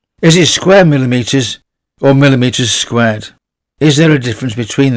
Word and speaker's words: square millimeters: A question that often pops up: is it square millimeters or millimeters squared? Is there a difference between them? For conductor CSA, we pronounce it square millimeters.